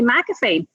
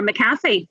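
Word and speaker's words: McAfee: I got head hunted by mcafe or maffy whichever way you want to pronounce it um so yeah mcafe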